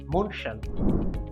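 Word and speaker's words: München: German ভাষায় শহরটির নামের উচ্চারণ মনশান।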